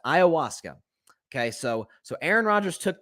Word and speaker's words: ayahuasca: The drug of choice is called, I hope I'm pronouncing this correctly, ayahuasca. I think that's how you pronounce it, ayahuasca.